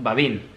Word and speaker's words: Babin: Vale, él dice que lo llamemos Babin. Pero sí, te lo compro. Babán, tío.